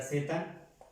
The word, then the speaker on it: z: Z, no set, como nosotros, como si fuera con S, no, como si fuera así,